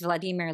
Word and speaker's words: Vladimir: Literally, the narrator's name, if you are carefully reading, is Vladimir Vlad Vladimirovich. I don't know if I'm saying that right. Vladimir is definitely cuz he says at one point, it's Vladimir like redeemer.